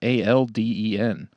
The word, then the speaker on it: Alden: It's Alden. The L silent.